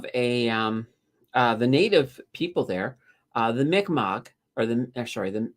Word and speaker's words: Mi'kmaq: We've always called them the Micmac for the longest time. I mean, we've even have a big mall there called the Micmac Mall. So we have been absolutely mispronouncing their name for the longest time.